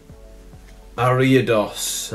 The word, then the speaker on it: Ariados: energy a layer on behind it old pc ariados i said it right this time pancea that's